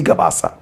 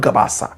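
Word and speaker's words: Gabas: I think it's Ali Gabbas. The name is Ali Gabbas, not Gabbasa. Gabbas.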